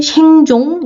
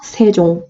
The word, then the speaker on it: 세종: 그래서 우리가 읽을 때는 이거 어떻게 읽지? 생종 이렇게 읽나? 라고 하지만 이거 방금 배웠잖아요. 위치는 넣어주지만 발음은 없는 애야. 그렇기 때문에 읽을 때 어떻게 읽어라? 세종 이렇게 읽는다라는 겁니다.